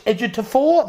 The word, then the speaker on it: Ejiofor: We then have do you know how to pronounce this name? I know it's Ejiofor, the last name.